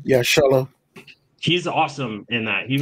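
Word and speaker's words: Xolo: Solo, right? That's how you pronounce his name? Yeah, Solo.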